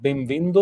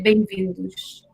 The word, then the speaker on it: bem-vindo: Is it bem-vindo, or how do you say welcome? Bem-vindo. And in the plural, it's say bem-vindos.